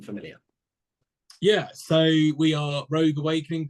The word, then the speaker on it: Rogue Awakening: yeah so we are rogue Awakening people love to misspell it Rouge Awakening rude awakening all that so it's Rogue as in Star Wars Rogue Awakening um so